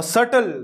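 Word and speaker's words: subtle: और सटल, देखिए इसका प्रोनाउंसिएशन क्या है, सटल, सटल, सटल, सटल यानी सूक्ष्म।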